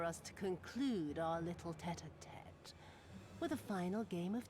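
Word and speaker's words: tête-à-tête: But now it is time for us to conclude our little tete-a-tete with a final game of chance. So that's how you pronounce that.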